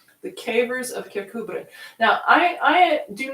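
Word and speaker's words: Kirkcudbright: for you it's spelled k-i-r-k c-u-d-b-r-i-g-h-t so it looks like kirk cud bright it's not pronounced that way kubrick the cavers of kirkuber now i i do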